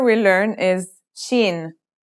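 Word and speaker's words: شين: letter we learn is Sheen this one is pronounced just like the English sh in the word shovel this one is very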